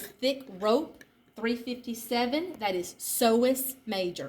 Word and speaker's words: psoas: 357, that is psoas major. It starts with a P, but the P is silent. Then we go in one more, and we get to 358, psoas minor.